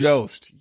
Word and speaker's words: Jost: Colin Jost.